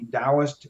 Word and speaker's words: Taoist: a place called The DST Institute uh it's pronounced with a d but spelled with a t TOS Institute if you